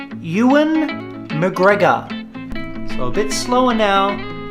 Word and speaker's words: Ewan McGregor: doin McGregor which you've easily mistake it's actually pronounced Ewan McGregor a bit slower now Ewan McGregor and for the last one we've got a